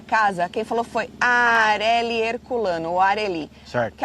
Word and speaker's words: Areli: PS, meu nome se pronuncia igual Carelli. É Areli, então.